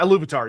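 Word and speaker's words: Ilúvatar: Yeah, he's in the race in a way that he is not in the race against how do you pronounce it again? Iluvatar? Oh yeah, Iluvatar, yeah.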